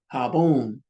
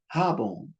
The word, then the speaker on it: jabón: Don't say Gomez, say Gomez. See, jabón, not jabón. Honor wherever the accent is.